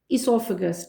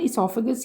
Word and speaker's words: oesophagus: अपनी बुक का 205 इससोफेगस ठीक है इससोफेगस भी लोग कहते हैं इससोफेगस भी कहते हैं इट डजंट मैटर स्पेलिंग ठीक होने चाहिए टर्मिनोलॉजी की समझ होनी चाहिए लेकिन अच्छी बात है आप लोग अगर वर्ड को सही प्रोनाउंस करो देन वो ज्यादा अच्छा है इसफेगस ये वर्ड है लेट्स स्टार्ट विद द